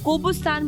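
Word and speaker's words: Qobustan: कोबिस्तान बोलते हैं। कोबिस्तान बोलते हैं। इन लोगों की प्रोनाउंसिएशन में सी को के बोलते हैं ये लोग। तो हम लोग जैसे केल्विन मतलब सी को सी बोलते हैं।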